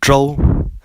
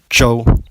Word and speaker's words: Zhou: So the ZH sound would be a J sound, but with an R in it. So take the Zhou dynasty, for example. It is pronounced as Zhou instead of Zhou.